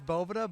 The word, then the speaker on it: Boveda: Am I saying it wrong? Is it Boveda? It is Boveda, but hey, everyone says Boveda, or it's a bunch of different things. So, okay, do it the Duff way. It's Boveda, dude, or Boveda.